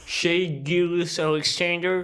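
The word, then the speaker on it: Shai Gilgeous-Alexander: Shea Gilgeous-Alexander. Ouais, faut prononcer correctement parce que sinon on te si on brise se les fait couilles.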